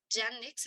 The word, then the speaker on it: Yandex: el buscador de yandex se escribe y a n d e x yanex así como se escucha Incluso si lo escriben